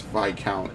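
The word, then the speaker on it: viscount: keep saying this count it's vi count the s is silent albany and burgundy to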